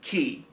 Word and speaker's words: Quay: It's spelled Quay, but it's pronounced Key.